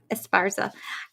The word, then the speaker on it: Esparza: you're going to have to make sure I pronounce this correct, Inez Esparza? Esparza.